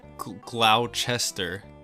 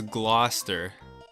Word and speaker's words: Gloucester: Look at this word and tell me I'm dumb for pronouncing it Gloucester. Apparently it's Gloucester. Okay, moving on.